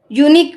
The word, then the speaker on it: unique: why it has a consonant sound one minute unique we pronounce it as u n e e k so here the option A is right not